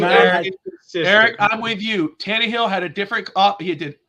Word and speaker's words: Tannehill: Okay, I'm the king of pronunciation. It's not Ryan Tannehill. It's Ryan Tannehill.